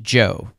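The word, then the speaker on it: Zhou: of China's Dynasty the Joe Dynasty Joe is spelled z h u but it's pronounced Joe kind of like Uncle Joe this time period of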